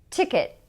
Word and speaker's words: ticket: So listen, ticket, ticket. What happens there is that my tongue goes to the place, but it doesn't release the air.